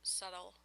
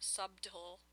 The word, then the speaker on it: subtle: in there organically subtle and yes it is pronounced subtle not subtool I know some people pronounce that subtool it's not subtle okay so I like that